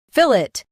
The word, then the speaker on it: fillet: Keep fill strong and it light. Fill. It. Fillet.